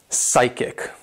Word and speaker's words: psychic: Sticking with P's, if you have a P and S together, basically the P is silent.